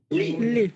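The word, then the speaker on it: gli: Lì. লি। লিপি আছে। দেখেন এখানে জি এর উচ্চারণ হয় না, কারণ জি এল এ ই, এখানে জি এর উচ্চারণ হবে না।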